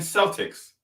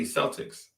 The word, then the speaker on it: Celtic: It's not even Celtics. The word is pronounced Celtic. But since they use a soft C, they say Celtics.